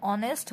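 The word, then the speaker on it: honest: তো আমাদের অনেস্ট উচ্চারণটা শুরুই হয়েছে আমাদের ও থেকে, তাই না, এই ও এর উচ্চারণের কারণে আমাদের এখানে অ্যান বসিয়েছে।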